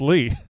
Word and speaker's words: Lee: Lee Jennings says Lee is pronounced Lee.